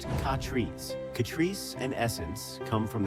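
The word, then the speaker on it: Catrice: Katrice, pronounced Katrice.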